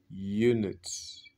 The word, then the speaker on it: unit: On dit unit, unit. Ici, tu vois ce G là, J autant pour moi, c'est Y, Y. À cause de ça, c'est comme si ça commençait par une consonne.